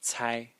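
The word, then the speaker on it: 猜: Well, this character is pronounced Cai, Cai, and it means to guess.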